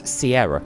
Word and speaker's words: Sierra: her miss reading and that's why she says seen her instead of Sierra I don't know she